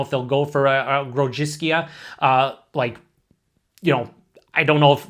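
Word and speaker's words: Grodziskie: I think the actual way to pronounce it is like Grodziskia. It's something like that.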